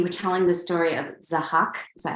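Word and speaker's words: Zahhak: then when you were telling the story of zahak is that how you say it yes yes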